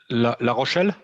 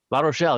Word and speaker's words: La Rochelle: has their factories in la roche i believe la rochelle la rochelle there we go beautiful town just a little